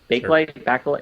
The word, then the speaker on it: Bakelite: rubber or even carved i think it's pronounced back a light is that right bakelite it's a bakelite but it looks i'm